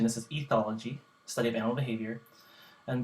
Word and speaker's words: ethology: I learned up I I looked up the pronunciation this is ethology study of animal behavior and behavior the definition